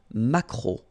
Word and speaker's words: maquereau: Le maquereau, so technically this K, just pronounce it K, mac, maquereau, maquereau. Alright, and then E-A-U, remember when you combine these three vowels, you get the sound O, maquereau.